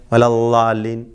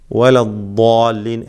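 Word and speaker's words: الضالين: അത് നാവിൻ്റെ അറ്റവും മേലെ മുൻപല്ലും ചേർത്തുകൊണ്ട് അല്ലെ വലല്ലാലിൻ എന്ന് പറയും അല്ലേ, അല്ലാലിമീൻ, ലാലിം.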